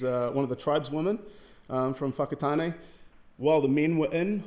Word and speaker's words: Whakatane: This is how you pronounce it, Whakatane.